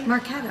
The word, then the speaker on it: Marchetto: Marchetto. Marchetto. See? You don't say the H.